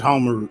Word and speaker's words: Homarut: Judge Homarut, yes, sir. Yeah, it's like helmet root, but it's Homarut.